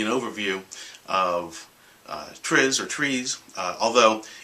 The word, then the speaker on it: TRIZ: guide is about which is something called It's pronounced trees t-r-i-z I'm a Westerner I pronounce it triz um